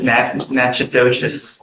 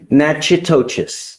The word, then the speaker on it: Natchitoches: You are wanted out of, Louisiana, Natchitoches Parish. I butchered the pronunciation, but. Natchitoches. Yes, What is it? Natchitoches.